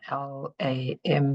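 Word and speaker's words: लं: It's Lam, L-A-M, but it's pronounced as Lam.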